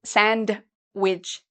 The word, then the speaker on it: sandwich: to eat sandwiches you you don't need to say sandwich okay we say sandwich so the D is silent sandwich and finally sometimes you